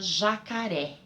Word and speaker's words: jacaré: Por exemplo, a palavra jacaré. Jacaré. eu dou mais enfoque, eu falo com mais força a sílaba ré, jacaré.